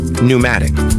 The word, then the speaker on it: pneumatic: P is not pronounced in the following common words. Example, job, receipt, core, psychology, pneumonia, pneumatic.